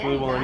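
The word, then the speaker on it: Glühwein: So they've got me trying something called glue wine. Is that how it's pronounced? Yeah, glue wine, yeah.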